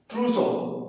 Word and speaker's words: trousseau: पूछा जाता है क्या, ट्रूसो। इसका स्पेलिंग है TROUSSEAU, ट्रूसो शब्द बोलते हैं।